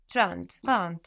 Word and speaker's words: trente: 30. Good, and that's spelled Trente. So the N doesn't just disappear, it gets swallowed into the nose a bit, and that affects the vowel before.